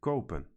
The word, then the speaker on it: kopen: So, for example, the verb forms for kopen are read koop, koopt, and kopen, with the same long O.